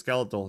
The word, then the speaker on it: Skeletahl: My name is Skeletahl. The H is silent, like the amazing performance of Cachy OS.